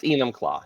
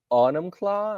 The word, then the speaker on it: Enumclaw: So, I thought let's start let's start by plugging your marvelous newspaper which has an office in downtown Enumclaw pronounced Enumclaw.